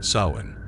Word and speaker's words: Samhain: come for them to Samhain. Pronounced sowing is an ancient Celtic